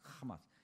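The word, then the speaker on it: חמס: 이걸 발음으로 어 이렇게 히브리어 발음으로 읽으면 하마스예요. 하마스 여러분 하마스 하마스가 아니고 하마스 어쨌든 그 단어 하마스 어디서 많이 들어봤죠?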